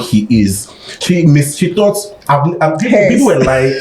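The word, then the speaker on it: HEIS: Even the most recent video, Rema's album is called He Is. She thought, people were lying. She thought it was his. I'm not lying. Me too. I've heard people pronounce that album Haze.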